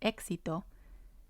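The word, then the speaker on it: éxito: what sound to use if a vowel comes before the x it most likely has the x sound like exito if we have the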